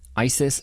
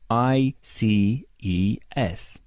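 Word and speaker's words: ICES: lab tests in Ontario Isis slipped cut it's pronounced I see e s thank God while traveling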